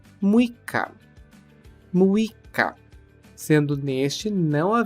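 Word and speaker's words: むいか: que é uma leitura especial dia seis é muica muica sendo neste não ha ver o t e ser inclusa a sílaba I logo muica agora vamos para o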